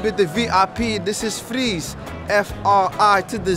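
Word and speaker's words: Friz: Freeze? Yeah, yeah, yeah. Like ice? We call it freeze when we say it, but it's spelled the other way.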